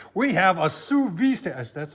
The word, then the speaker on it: sous vide: We have a sous vide station. That's how you pronounce it, sous vide.